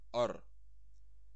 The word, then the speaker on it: ar: And now, these are the most basic, most essential constructions in Lithuanian with interrogative particle ar. It's pronounced ar.